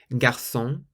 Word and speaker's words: garçon: Garçon. Garçon means boy, garçon, so it's a S sound.